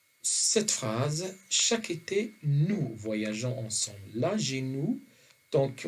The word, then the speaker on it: voyageons: âgées nous tant qu' on a déjà dit que seul avec le pronom personnel nous qu'on ajoute un e pour arriver à prononcer le gg et non par gay donc nous voyageons je